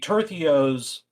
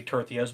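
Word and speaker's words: tercios: yeah no one no one's immortal but the tertheos and it doesn't look like it's supposed to be tortillas but this is apparently how you're supposed to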